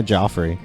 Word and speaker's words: Joffrey: So the last thing he's done in 20 years was the King Joffrey. Is that how you say his name? Yeah, Joffrey.